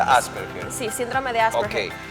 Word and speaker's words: Asperger: aser Asperger ya el Asperger es un se pronuncia Asperger sí síndrome de Asperger Okay que es más